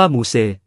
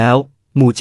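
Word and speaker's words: มูเจ้: กลุ่ม ตระกูล เดียว กัน ชื่อ มู เจ้ ใน ภาษา พม่า ออก เสียง เป็น มูซ เขียน เป็น ภาษา อังกฤษ ว่า มูเซ คน ไทย เมื่อ อ่าน จาก ภาษา อังกฤษ จึง มัก เรียก เมือง นี้ ว่า มูเซ แต่ จริง ๆ แล้ว มู เจ้ เป็น ชื่อ ใน ภาษา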